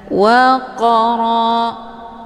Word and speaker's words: وقرا: Qaf sukun yang terdapat di pertengahan kalimat ini dinamakan dengan qalqalah sura. Cara bacanya, qafnya dipantulkan dengan pantulan ringan. Waqara, jadi pantulannya sekedar saja.